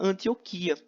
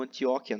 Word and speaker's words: Antioquia: e ele vai para Antioquia né ou antióquia né algumas pessoas pronunciam assim parece que antióquia é mais correto Mas eu prefiro falar Antioquia que é mais bonito então para para de